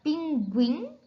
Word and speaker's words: pinguim: é para ficar be a pronúncia correta é Sagui então e lembrando nos grupos Gui em muitas palavras o não é pronunciado mas em outras a vogal u é pronunciada como na palavra pinguim a palavra sagui a